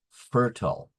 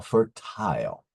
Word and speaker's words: fertile: word for today is fertile or fertile there are two pronunciations and they both are correct it means bearing seeds